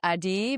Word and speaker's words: Adi: And uh the way I pronounce my name is Adi, but a lot of people call me Addi, so I I respond to both.